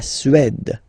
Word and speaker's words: Suède: La Suède, d, la Suède, Suède. Remember, accent grave, it's really open.